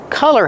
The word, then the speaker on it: color: Don't be confused with color. Color has the short sound like cup and up.